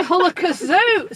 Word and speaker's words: Hullakazoo: So we're going to get the Hullakazoo out now. Okay. It rhymes with Sue. It does. Hullakazoo. We could be Hullakazoo. Sue, not zoo.